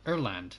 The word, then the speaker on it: Öland: extra five percent or it's pronounced airland or land sorry erland there we go i keep thinking also